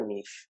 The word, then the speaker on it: niche: You want to select your niche. It's called niche. It's called niche. I don't know. I mean, American British pronunciations, I guess.